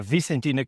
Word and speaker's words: Vicentina: Can you pronounce it for me, Joelle? Then sure, it's a Vicentina coast or um more precisely where we were in the fisherman's trail.